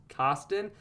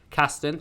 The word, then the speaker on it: Casten: Sean Kirsten.